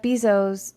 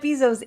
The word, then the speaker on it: Bezos: billionaires confused because Jeff Bezos or not Jeff bezo no I'm saying it wrong again this is what I do guys Jeff Bezos is Amazon I learned